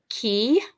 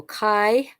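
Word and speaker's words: chi: x kind of shape is key or Kai um and it makes a k sound you've really got to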